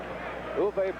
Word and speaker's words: Uwe: took exactly three strides uve blop his first name is spelled UWE pronounced U his last name BL B pronounced blop he is 7 to